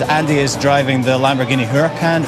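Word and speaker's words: Huracán: is driving the lamborghini huracan urakan i believe it's pronounced which is our hero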